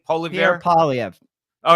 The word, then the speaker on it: Poilievre: How do you pronounce Pierre's name? Poilievre? Pierre Poilievre.